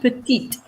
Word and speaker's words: petite: here she's sweet petite the final e in french for feminine side of of your adjective is only there so that you pronounce the last consonant which is not the last letter in the word anymore so if your consonant is the last letter you do not pronounce it but if it's within